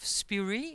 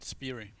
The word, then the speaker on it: Spiri: co-founder and ceo of spuri is am i pronouncing this correctly we pronounce it spiri spirit that's a beautiful